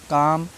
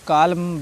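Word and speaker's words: calm: ऐसे नहीं पढ़ना है क्यों क्योंकि एम से पहले एल आया है ना तो एल साइलेंट है मुख है उसका प्रोनाउंस नहीं करना है आपको ठीक है भूल जाइए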